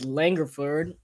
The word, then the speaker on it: Langford: short in a rebound by dang here is langerford that's how you say it and gives it